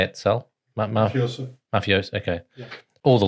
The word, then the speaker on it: mafioso: So there's all these levels of mafiosa. How do you say it, Sal? Mafioso.